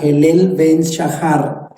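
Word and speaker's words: הילל בן שחר: Y ella utiliza una expresión hebrea que se pronuncia Helel ben Shahar.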